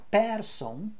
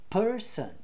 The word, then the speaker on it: person: pronunciadas com E então não é Person é Person Person Person Person Culture